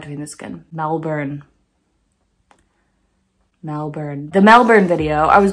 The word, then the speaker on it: Melbourne: It's pronounced Melbourne. Let me do it in the Australian. Melbourne.